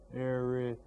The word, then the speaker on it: Arizona: Now, you can hear that the third syllable, Arizona, has more stress on it.